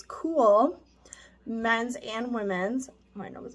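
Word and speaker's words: KÜHL: for you to know the brand is spelled k-u-h-l which is cool men's and women's my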